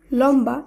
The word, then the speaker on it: লম্বা: ফলা যুক্ত শব্দটির উচ্চারণ লম্বা এই হিসাবেই হবে কারণ আমরা জানলাম ম এর সঙ্গেও যখন ব ফলা যুক্ত থাকবে তখন শব্দের উচ্চারণের কোন পরিবর্তন হবে না একইভাবে লম্ব কম্বল এই